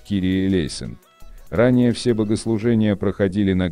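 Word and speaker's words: Κύριε ἐλέησον: Молитва Господи, помилуй, на греческом языке произносится как «Кирие Лейсон».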